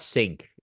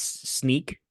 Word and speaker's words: Snyk: that's always the question right how do you pronounce that name is it sneak snik sink it's not sink it's actually it's sneak some people say sneak but I don't like